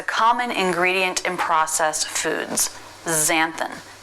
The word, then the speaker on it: xanthan: It can be a Z sound. This happens in 2 cases. First, when it starts a word. 2 examples, xanthan.